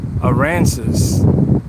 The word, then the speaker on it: Aransas: Aransas.